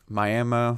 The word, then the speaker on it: Miami: So Miami, that's how you pronounce it.